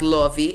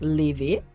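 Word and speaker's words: Laufey: That Lovey is releasing A Matter of Time.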